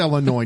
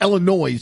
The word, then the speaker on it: Illinois: No, there's no s at the end. That's how we have a I live in San Jose, Illinois. Not Illinois, you idiot.